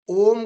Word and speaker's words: ओम: ओ बोलेंगे, ओम ओम 3 शब्दों से मिलकर बना होता है, आ, उ और म।